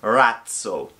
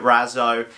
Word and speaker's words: Razzo: stuff like that but the proper pronunciation is probably ratzel and it's rocket in Italian so we're gonna just call it Razzo and the team the